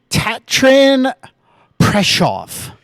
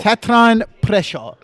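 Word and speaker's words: Tatran Prešov: So there is an accent mark above the S. Like that means something to me. There's a little line above the S. Tatran Preshov. That was damn close.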